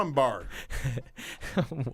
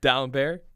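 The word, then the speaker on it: Dalembert: you pronounce that now I'm bar how do you say it down bear oh it's bear not bar down bear okay I'm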